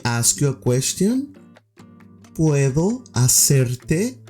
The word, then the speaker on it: hacerte: ¿Puedo hacerte, the H is silent, una pregunta, a question?